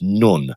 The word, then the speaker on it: Nun: The 14th Hebrew letter is apparently pronounced nun, which is also represented by the the symbology of a fish.